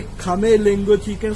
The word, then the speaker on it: Khmer: I have also learned that the R is silent and E says by A. Khmer. So I will follow this now, Khmer.